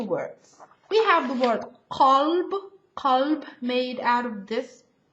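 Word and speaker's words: قلب: So, qalb, heart, kalb, dog. Okay? That's why you really have to be careful on pronouncing the correct type version of the letter.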